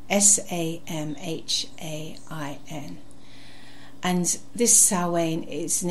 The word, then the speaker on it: Samhain: It's spelt with an M, but it sounds like a sow, like a female pig. Samhain, Samhain.